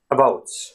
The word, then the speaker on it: about: And another example, the word about, right? You don't really say about, even though if you said it that way, people would still understand what you're talking